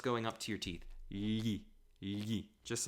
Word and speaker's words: gli: Where they're going to take yi. G-L-I is pronounced yi. Almost like you're trying to say li, but your tongue is a bit tied. It's a bit stuck in the back of the throat.